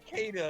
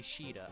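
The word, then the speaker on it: Caeda: it's cada it's not cedar no it's it's c it's technically cheetah i think but in the japanese version well and also i think it's like the irish pronunciation of that spelling yeah is it makes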